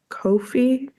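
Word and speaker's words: Ko-fi: then I started a Kofi I think yeah I I looked up how to say it online and it said it rhymes with no fee so Kofi um and I like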